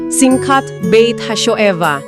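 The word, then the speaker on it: Simchat Beit HaShoevah: Saya pernah baca dari sumber kita tentang eh sebuah ritual yang namanya simchat bait hasoheva. Benar enggak tuh bacanya? Iya benar, Simcat Bait Hashoeva atau upacara penerangan bait suci.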